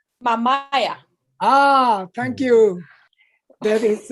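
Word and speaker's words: Mamaia: In Mamia? No? Mamaya.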